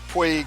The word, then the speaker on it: Puig: Puig.